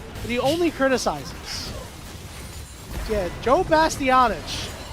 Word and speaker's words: Joe Bastianich: Yeah, Joe Bastianich. That's how you pronounce his last name.